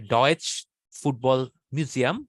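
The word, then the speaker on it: Deutsches Fußballmuseum: ফুটবল মিউজিয়ামটা হচ্ছে ডটমুন্ডে যেটা হচ্ছে ডয়েচ ফুটবল মিউজিয়াম এভাবে উচ্চারণ করে তারা তো ওইটাতে দেখেছি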